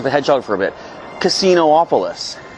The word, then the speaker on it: Casinopolis: Casinopolis. It's only got one O, but you pronounce two of them. It's not Casinopolis or Casinopolis.